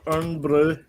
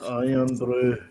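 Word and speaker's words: Irn-Bru: Yeah, the English, the Americans say earn brew. They're like, it's iron brew, not earn brew.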